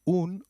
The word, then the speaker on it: un: am a female student is pronounced as double O in Ubuntu and not like the U in umbrella so try saying un